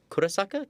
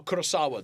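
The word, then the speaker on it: Kurosawa: about it in um I always say the name wrong. Kurasaka Kurasaka. Oh, Kurasawa the director.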